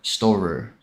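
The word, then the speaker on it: Storror: This game is called Storer Parkour Pro. Just like it's spelled on the shirt. S-T-O-R-R-O-R. Storer.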